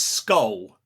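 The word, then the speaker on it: skol: If you're trying to learn Cornish, this is an easy one cuz the Cornish word for school is skull. Skull, which is spelled sk.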